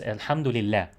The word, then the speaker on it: alhamdulillah: allah so it's not it's not pronounced this way you know the way you wrote it is is closer to the pronunciation because it's alhamdulillah alhamdulillah so the way